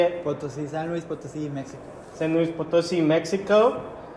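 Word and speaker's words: San Luis Potosí: Louis police but how do you say it photos in San Luis Potosi Mexico San Luis Potosi Mexico how you doing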